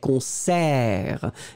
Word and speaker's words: concert: So whereas in French, in French, we will open the eh, concert. It's really like a eh, eh, eh.